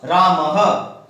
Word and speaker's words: रामः: ह का आधा समय हम इसको बोलने में लेंगे, ह के समान उच्चारण करेंगे, ह। रामः, क्या उच्चारण करेंगे?